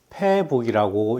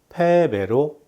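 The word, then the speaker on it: 敗北: 아마도 패북이라고 읽으시는 분도 계실 수도 있습니다. 그러나 이 글자는 패배로 읽으셔야 합니다.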